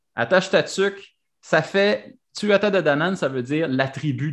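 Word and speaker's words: Tuatha Dé Danann: Je sais que je le prononce pas comme il faut parce qu'il faut pas. Tuatha de Danann. Tu peux dire Tuatha de Danann. Faut vraiment pas prononcer la moitié des lettres dans ce. Non, mais si tu le prononces à la française, francophone, là, Tuatha de Danann, ça marche.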